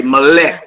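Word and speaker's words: מֶלֶךְ: Bayit, which means house. Okay, Melech, which means king. And Na'ar, which means young man, are all accented on the first syllable. So you will come out and put your emphasis on the very first syllable and not the last one.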